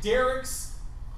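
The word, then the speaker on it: Darik: a free product called Derek's boot nuke it's my name but it's spelled D a r i k Derek Boot and nuke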